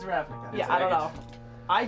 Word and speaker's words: Ravnica: Which apparently is Ravenica based. I didn't know that. Ravnica? Ravnica? Ravenica, Ravnica, I That's don't how know. I pronounced it until I heard David say it. So. Yes, it's Ravnica.